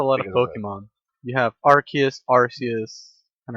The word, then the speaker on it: Arceus: like with a lot of Pokemon you have Arceus Arceus and RK is I don't know who says our kids